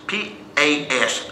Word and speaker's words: paz: understand Spanish know that the word is paz. P-A-S, pronounced pas. And if you want to, okay, how do you say that word pas? It's like an opossum. Y'all know where possum kingdom is? It's a possum.